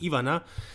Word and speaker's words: Ivana: a voyage i know he calls her ivana but in serbia that's actually pronounced ivana doesn't really matter uh